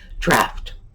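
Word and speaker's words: draught: Draft. We pronounce it as if it's D-R-A-F-T.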